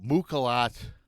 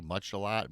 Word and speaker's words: Muchalat: this is about mukilat I think that's how you say it m-u-c-h-a-l-a-t much a lot Mook a lot less than I'm going with hope you guys like